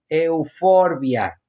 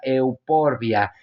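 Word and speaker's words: Euphorbia: que tiene nombre científico Euforbia, pero si nosotros lo leemos como se escribe, sería euporbia. La PH con el tiempo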